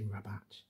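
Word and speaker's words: Rabat: Um, I just use the the French pronunciation. Maybe I should say rabbat in the English way to avoid confusion.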